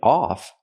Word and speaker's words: of: that's a phrasal verb she doesn't mean tip off she means tip of so the pronunciation is important here we have to pronounce it of of with a short closed sound of tip of the